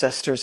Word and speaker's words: sesterce: And yeah, it is pronounced sesterce, a silver coin of ancient Rome.